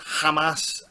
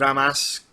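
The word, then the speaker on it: Ramos: settled in there we've got Ricardo now it's pronounced Hamas but we saved a mass because we're not from Latin America and then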